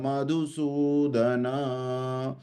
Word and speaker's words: मधुसूदन: महम संख द्रोण च मधुस मधु का धु छोटा है और सु बड़ा है है ना कथम भीष्म महम संख द्रोण च मधुसूदन इुभ प्रति योमी इुभ